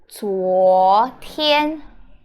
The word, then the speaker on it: 昨天: So it's pronounced 昨天, 昨天. Okay, ZUO is Z is z, and then UO is like 窝 sound, 窝. So 自窝左, 左, and TIAN is 天,天.